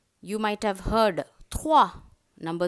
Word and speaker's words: trois: Every time you see this combination O, E, it is pronounced as wa. You might have heard trois, number 3, trois. Moi, roi. M-O-I, moi. T-R-O-I-S, trois.